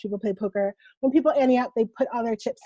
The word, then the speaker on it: Ante Up: Yeah, And I say it like that because it's not anti, right? It's yeah, Ante Up, the famous yeah, poker.